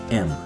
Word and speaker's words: am: O am é como dizer a letra M, sem o i no final. Então fica am.